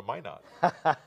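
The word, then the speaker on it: Minot: not why not yes that's out of crew pronounce it at least and i'm trying to remember so why not go to my not let's go on to the next one so that's my not again and we have in the next view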